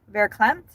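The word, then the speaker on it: verklempt: It's It's spelled V E R K L E M Pt. Vercle Clemp.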